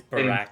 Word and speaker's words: Barakian: see, I knew it when I said Atraxes corrected you. It is Barakian. Barakian or Barakian. So he told you you've been saying it wrong your whole life, all 150 some years.